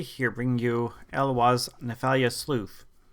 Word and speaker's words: Eloise: Ladies and gentlemen, Capital G here bringing you Eloise Nephalia Sleuth. I say Eloise because it can't be Eloise. Louise is spelled with a U. There's no U, so Eloise it is.